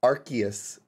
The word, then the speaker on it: Arceus: i kind of don't feel like ow it's pronounced arceus arceus arceus our arc arcadius literally god i